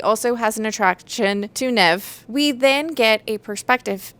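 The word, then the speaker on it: Niamh: But how she even says it is like never without the so it's like nv according to how it traditionally would be pronounced.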